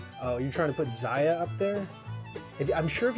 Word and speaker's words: Zaya: Zaya is correctly pronounced Zaya. I finally looked at the Kickstarter campaign and they pronounced their own game properly.